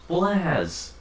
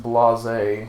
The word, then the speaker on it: Blaze: Sorry, Rivals, Blaz. it's pronounced Blase.